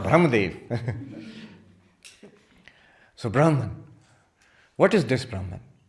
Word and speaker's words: Brahman: We will use the prestigious standard term for ultimate reality in Vedanta, Brahman. Brahma. Not Brahma.